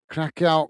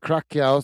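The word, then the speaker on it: Curaçao: I keep calling it Curacao because it's how it reads, or Curacao, I believe is how it's pronounced.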